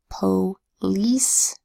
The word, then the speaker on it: police: a long e sound e and words like police spelled people how I see he do you hear that e in po-leece the I is making that a sound like